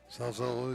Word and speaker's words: Salzillo: Salzillo is correct.